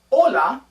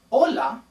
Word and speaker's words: hola: Notice that the H in Spanish is silent. Also notice that if you look at the word hola, there is an exclamation point at the end, but also upside down.